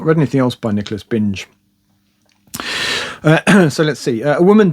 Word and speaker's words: Binge: Next is Nicholas Binge, I think it's Binge, possibly Bingy. Rhymes with Vingy.